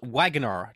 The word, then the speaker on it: Wagoner: For those that are listening, it's spelled Wagoner, Wagoner, like somebody who builds wagons, like Robert Wagner.